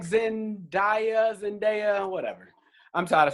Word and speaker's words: Zendaya: Now, have a feeling some of you may like Zendaya, whatever.